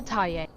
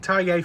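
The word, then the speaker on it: Thaye: That's right. That is how you say it. I've been saying Tayier for years now, and people keep telling me I'm wrong. Well, there you go. The official Fazb account agrees with me. I'm right. It's Tay.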